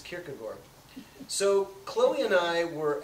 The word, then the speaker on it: Kierkegaard: kierkegoor and he said I don't know that's how they say it there now so I was like all right well I guess it's kierkegor so Chloe and I